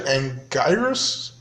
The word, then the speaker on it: Anguirus: The other creature, Anguirus, is how you pronounce the name.